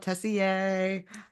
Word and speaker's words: Tessier: madness madness by Shantel Tessier um if we're not saying her name right somebody let us know but we're pretty sure it's Tess I'm pretty sure the r is silent yeah I thought we